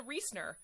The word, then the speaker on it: Riesner: lovely voice notes saying don't worry about the proper german pronunciation of my last name if you can't do it just say lisa riesner like they say in the states like no i want